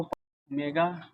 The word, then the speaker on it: ओमेगा: अब यहां पे इसके बाद हम लोगों को ओमेगा क्यूब किया गया।